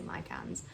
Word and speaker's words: micans: But this is a philodendron micans, I think Americans say micans.